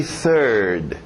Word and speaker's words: third: TH de sapo, novamente, third.